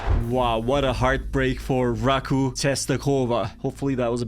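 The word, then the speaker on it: Raków: The Häcken goalkeeper Abrahamsson was the story in this one as he made save after save to deny Raku. That's apparently how it's supposed to be pronounced, and the match was goalless at the end of the 90 minutes.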